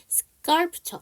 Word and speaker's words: sculpture: sculpture. 아까 scenic 할 때는 C가 묵음이었어요.